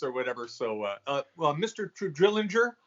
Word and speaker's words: Trullinger: Everyone says, is it Trullinger or Trullinger? Please, sir, educate our hard guests. G. Hard G. Trullinger.